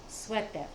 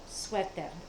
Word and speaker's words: suéter: And they pronounce it very much like we pronounce it, but they spell it slightly different. El Sweater. Suéter. Suéter.